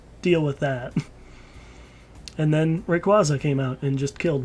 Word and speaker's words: Rayquaza: Do you remember Rayquaza? Right, some people pronounce it Rayquaza, but that just sounds weird.